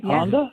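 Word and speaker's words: Handa: It's pronounced Honda, but it's spelled H A N D A. H A N D A. Honda.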